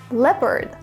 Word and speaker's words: leopard: few wild animals are leopards note the pronunciation leopard Stags which are male deer and beavers speaking